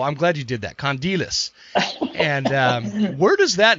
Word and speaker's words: Kondelis: last name dude i already forgot how to pronounce it condilius see i was going to say klondi d-list so i'm glad you did that condilius and um where does that name come from